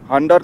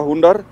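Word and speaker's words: Hunder: এইদিকটা যাচ্ছে তুর হান্ডার হান্ডার নামে যে ভিলেজ বা হুন্ডার যে যেরকম উচ্চারণ করেন এইচ ইউ এন ডি আর একচুয়ালি উচ্চারণ হচ্ছে হুন্ডার কেউ হুন্ডার বলেন কেউ হান্ডার বলেন তো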